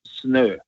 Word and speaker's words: snø: Norsk, which is norsk, and snø is SNO with, I don't know if you've seen those letters. I'm sure you have. We have 3 more letters in Norway, A, Ø, Å, and Ø is a circle with a slash over it, So, and that's pronounced as an Ø.